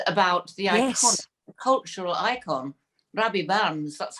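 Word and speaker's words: Rabbie Burns: Which is about the iconic cultural icon, Robbie Barnes. That's how you pronounce it, is it?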